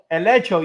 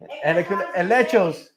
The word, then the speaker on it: helecho: Elecho. You see how it's close. Elechos.